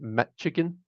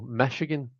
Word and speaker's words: Michigan: So I I've got into this habit of pronouncing it Michigan, and I've got to like remember that there isn't a T in it. So Michigan is how I should be pronouncing it.